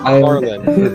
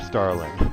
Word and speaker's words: Starlin: It's not Stalin. This is how misinformation gets spread, bro. This is where it happens. I will be sure to tell my interviewee that he misheard the pronunciation of Starlin.